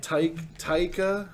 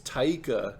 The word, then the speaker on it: Taika: psycho okay all right taika i think it's taika because it's t-a-i-k-a like i'm going to take a drink yeah sure yes i